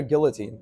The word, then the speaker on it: guillotine: Guillotine or guillotine? Pretty sure it's not guillotine. Pretty sure the L's silent.